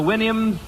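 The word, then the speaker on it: Houyhnhnm: mythical kingdom was the winam remember the winam to sound to pronounce supposed to pronounce it like you do a horse's Winnie I think okay here's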